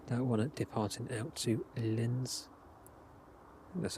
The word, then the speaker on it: Linz: That one departing out to Linz. That's how you pronounce it.